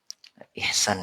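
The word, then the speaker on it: إحسان: Ihsan ya bacanya. Saya saya kebawa ihsan sebenarnya. Ha pakai Ha ya. Ihsan ya. Ihsan. Kalau bacanya ihsan kita bersyukur bukan K ya bukan K. Kenapa kaha? Karena itu bawaan dari logat ya.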